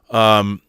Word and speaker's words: OODA: OODA is pronounced like Gouda OODA loop.